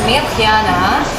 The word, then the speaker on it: Mirjan: you sir I am Mia my name is actually pronounced as Mia and it is a Croatian name a lot of people